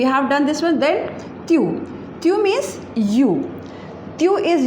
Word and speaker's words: tu: So tu, the pronunciation is tu, and this meaning is you.